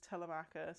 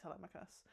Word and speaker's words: Telemachus: Uh there's a particularly great scene where Penelope kind of chews Telemachus, or Telemachus, they pronounce it like Telemachus in the film.